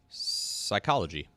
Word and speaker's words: psychology: Number four, psychology. Number three, pneumonia. Number two, raspberry. Number one, cupboard. They all got pee.